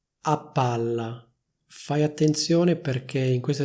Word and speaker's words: a palla: viene pronunciata come se ce ne fossero due, cioè come se ci fosse una doppia P. Infatti si dice a palla, non si dice a palla.